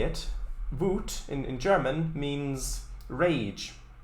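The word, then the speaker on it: Wut: because the the the way you say it voot in in german means rage or anger although it's spelled slightly differently is with a u instead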